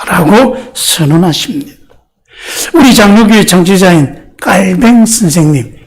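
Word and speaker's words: Calvin: 우리 장로교회 정치자인 깔뱅 선생님, 옛날에는 영어 발음으로 해서 칼빈이라고 그랬는데 요즘은 이 깔뱅 선생님이 프랑스 사람이거든요. 그래서 프랑스 사람을 영어식으로 읽어야 되겠냐. 그래서 프랑스식으로 하자. 프랑스식으로 읽으면 깔뱅입니다.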